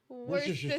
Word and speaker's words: Worcestershire: If you can say it like that, it'll sound like you're saying it Worcestershire.